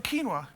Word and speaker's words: quinoa: And then some quinoa. Oh. The hilarity of how people pronounce this one. Quinoa. Quinoa. Eh? Quinoa. It's quinoa. It's spelled like very foreign, but it's quinoa.